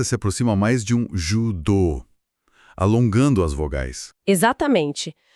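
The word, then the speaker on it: 柔道: Então, judô não se pronuncia judô, com o nosso O fechado. A pronúncia correta se aproxima mais de um judô, alongando as vogais. Exatamente. A pronúncia correta é com as vogais longas.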